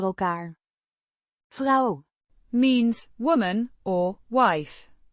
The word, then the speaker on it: elkaar: Pronounced elkaar with a short a sound in the first syllable.